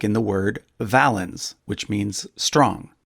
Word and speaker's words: valens: like in the word valens, which means strong, although the Romans would have pronounced it closer to wallens.